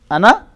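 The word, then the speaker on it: أنا: Meri ana badi mutassir ho rahi hai. But in Arabic it is pronounced as ana. The alif is not pronounced.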